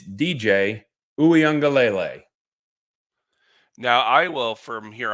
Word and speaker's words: Uiagalelei: out how to say the name it's DJ OU angele now I will from here on out just